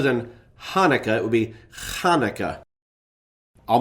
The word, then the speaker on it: Hanukkah: It would be pronounced with a throat-clearing guttural KH sound. So rather than Hanukkah, it would be Hanukkah.